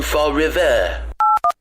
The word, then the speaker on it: Fall River: Felons of feather flock from Fall River. He doesn't even know how to pronounce Fall River. It's Fall Rive.